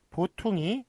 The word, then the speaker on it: 보퉁이: 예, 그 다음에 보퉁이, 보통이가 아니라 보퉁이라고 그렇게 이제 발음을 하고요.